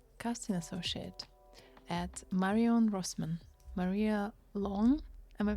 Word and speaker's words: Maria Lohn: Maria Long. Am I pronouncing your name correctly?